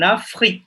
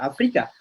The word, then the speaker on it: Afrique: En Afrique, c'est pas Afrika.